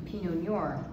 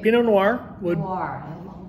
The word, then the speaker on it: pinot noir: would also be the pinot noir right pinot noir yeah it's a hard one to pronounce it's a harder one yeah you are think of film think of film noir yeah yeah like those so how would you